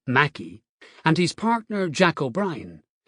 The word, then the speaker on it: Mackay: John McCay, pronounced Mackey, and his partner Jack